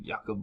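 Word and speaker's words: Jakub: It's not Jacob. It's like Jakob Voracek.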